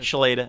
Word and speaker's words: Chloeta: time market mark with Shay lotta fire I was gonna I always I say it wrong that's okay she later is pretty close yeah very real good